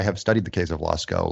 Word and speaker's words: Lascaux: Lascaux. Lascaux. Okay, I thought it was Lyceau or something. All right, Lascaux. Well, the French might call it that. I've only heard it Lascaux.